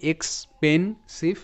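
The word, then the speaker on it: expensive: যেমন টি আই ভিই হয় টিফ, টিফ, ঠিক সেভাবে এস আই ভিই Saif, Saif. Okay, so এটার উচ্চারণটা হবে এক্সপেনসিভ, এক্সপেনসিভ, এক্সপেনসিভ।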